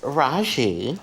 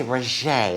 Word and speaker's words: Raji: you pronounce your name it's raji but some people say roger like jack kay i'll